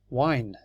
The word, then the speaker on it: wine: very short sound but if you put an e on it becomes wine wine that you drink